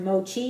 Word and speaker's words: mochi: just so you know that and so it's pronounced Mochi it's spelled m o c hii and um